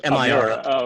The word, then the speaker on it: Miro: How do you spell that? Like the artist, M-I-R. Oh, okay.